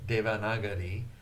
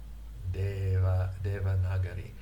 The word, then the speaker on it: Devanagari: When I was trying to learn Sanskrit, I saw these words like, let's see, Devanagari. I would pronounce it Devanagari. Devanagari. It was difficult for me to get into the idea that that even though it's written D-E and V-A, those vowels have a different representation from the vowels in Japanese.